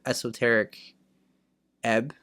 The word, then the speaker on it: Esoteric Ebb: Let's get to our last topic of the night, which is Dory's spotlight for esoteric eb, right?